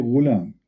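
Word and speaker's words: غلام: Al-ghulam بضم الغين, which means you say ghulam.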